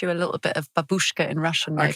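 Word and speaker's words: бабушка: And she said it didn't matter that Babushka actually means grandmother in Russian and that she was pronouncing it wrongly because it shouldn't be Babushka, it's Babushka.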